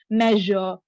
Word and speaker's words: measure: When it comes to SURE, just make it slightly stylish. Measure, Je. Seizure, je, yes, because it comes from French word. I think the origin is French and German. That is where we have got this pronunciation. So just remember how the French people speak. Measure, seizure. So that is the correct pronunciation.